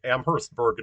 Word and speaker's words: Amherstburg: There was the guy that Amherst, Massachusetts is named after, and Amherstburg near Windsor is named after the same guy, but you pronounce the H in that one, so it's okay.